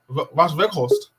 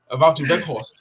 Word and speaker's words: Wout Weghorst: Don't say it like that. Wout Weghorst. I'm only going to say how it should be said. Wout Weghorst. Wout Weghorst. Weghorst, yeah, it's Weghorst.